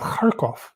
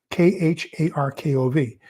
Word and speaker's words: Kharkov: But then you have Kharkov, K-H-A-R-K-O-V. So notice there's a K-H and there's a K in Kharkov. So the first one, K-H, is pronounced Kharkov. And then the K is pronounced K. So I tried to point that out to him.